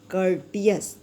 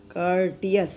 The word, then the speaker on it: courteous: बी कर्टियस, देखिए spelling देखिए, COURTEOUS, कर्टियस। कर्टियस बोलेंगे इसको, यानी बी कर्टियस टू ऑल, यानी हमें सबके साथ नम्र व्यवहार करना चाहिए, यानी व्यवहार हमारा अच्छा होना चाहिए।